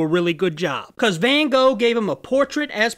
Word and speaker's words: Van Gogh: just so you know the hollandaise claim you're supposed to pronounce his name Van Gogh but